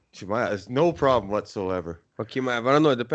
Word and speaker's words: Chimaev: Chimaev. Chimaev.